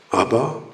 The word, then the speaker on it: 아바: 하나님을 아바, 아버지라 부르짖느니라. 여기서 아바라는 말은 아람어로 아바, 똑같습니다. 발음이 아바.